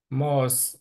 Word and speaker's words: most: Yeah, most of the Most. money. Âm Âu á, âm Âu á. Tại vì Most, tại vì most. Most.